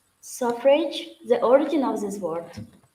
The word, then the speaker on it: suffrage: How it correctly can be pronounced? It's suffrage?